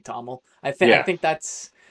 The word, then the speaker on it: TOML: Toml, I say TOML. Toml, but if it's called Toml sounds I right. don't know, or 2ML, but that sounds like converted to machine learning, so I just say Toml.